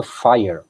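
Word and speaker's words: FHIR: de comunicação de dados chamado Fire é esse Fire que vai ser adotado como se escreve físico H mas é Fire que o pessoal chama né é esse é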